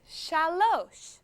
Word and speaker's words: shalosh: Hebrew you say shalosh the number three in Hebrew is shalosh shalosh shalosh one two